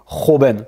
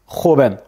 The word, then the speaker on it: joven: Le J, eh bien, lui, il va se prononcer comme le R français, mais avec un espèce de quelque chose de plus guttural, comme Joven, tu vois, c'est Joven, Joven, jeune.